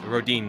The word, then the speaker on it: Rodin: It's Rodin, not Rodan. So, apologies for any Rodin fans if I butchered that name.